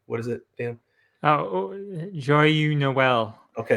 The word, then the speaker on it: Joyeux Noël: If you're in France, I can never pronounce it correctly. What is it, Dan? Oh, Joyeux Noël.